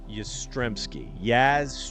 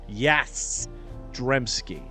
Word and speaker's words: Yastrzemski: It's actually Yaz Stremski. Yastrzemski. Yaz Stremski. Fine, strong Polish name. Yastrzemski. Yastrzem. Ski. Not unlike Carl Yastrzemski.